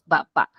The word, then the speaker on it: baba: baba is bibig Okay mouth baa so Sudden stop siya no meron siyang Parang ganyan maragsa yung pronunciation niya ba ba kasi kung